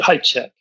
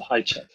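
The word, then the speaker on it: Hajicek: oh yeah but Doug I think he pronounces it hi check hey check okay uh it's spelled h-a-j-i-c-e-k so for those of you who know better you can you can write in and tell us what the pronunciation is but it seems like I've heard him called high check um now this is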